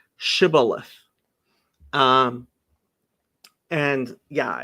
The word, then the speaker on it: shibboleth: but um in in english it's it's uh pronounced shibboleth um and yeah it's head of green um